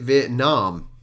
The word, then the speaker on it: Vietnam: saying Vietnam but actually I would pronounce it Vietnam like naan bread Nam plastic would be